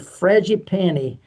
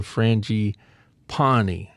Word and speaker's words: frangipani: age of trees and frangipani blooming. That was funny because I looked it up and the pronunciation thing said frangipani, but it's frangipani.